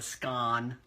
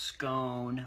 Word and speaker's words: scone: don't call it a scone first of all it's pronounced scone long o scone and it's a kind